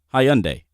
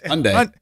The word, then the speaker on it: Hyundai: good car yeah yeah high-end a if that's how you want to pronounce it man I am not going away yeah what is it it's Hyundai Hyundai you know it's just